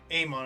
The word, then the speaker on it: Amon: Like Korra can match the speed of someone who Amon, I believe that's how you correctly pronounce his name.